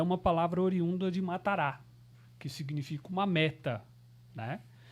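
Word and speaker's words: מטרה: Eu estava em casa pesquisando e encontrei uma palavra hebraica que na transliteração a gente pronunciaria ela em português como matará, né?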